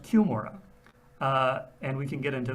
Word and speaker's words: Cumorah: It's even a little bit weirder than that in that it's not pronounced Cumorah, it's pronounced Cumorah.